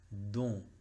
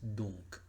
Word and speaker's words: donc: Don. Don sería si respetamos la regla, pero no, en este caso es donc. Donc. Si lo decimos en símbolos fonéticos es D o nasal y el sonido K, que se escribe como una K.